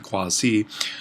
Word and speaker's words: quasi: english we'll want to make sure that's a long i in latin quasi and this is the